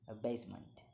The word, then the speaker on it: abasement: the word is a basement it's a noun and the pronunciation of this word in British English and the American English is the same and pronounced as a basement a basement a basement a basement a basement